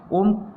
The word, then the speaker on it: ओम: ओम का उच्चारण जब हम करेंगे तो ओम का उच्चारण करेंगे तो वो तीन मात्रा का समय हमें लगता है।